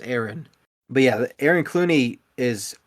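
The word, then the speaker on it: Ewen: creates this Aaron Clooney spelled e-w-e-n but pronounced Aaron but yeah Aaron Clooney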